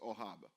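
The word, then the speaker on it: אהב: In fact, if you look at the word love in this verse, it's a Hebrew word pronounced ohab, and it is a verb.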